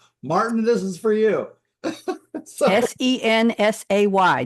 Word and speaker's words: Sensay: Sensay, just the way it's pronounced. Sensei, S-A-Y.